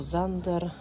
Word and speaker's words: Sander: Zawsze poluję na podkładki, wiecie z firmy Sander, po niemiecku Zander, ale pisze się przez S. Sander.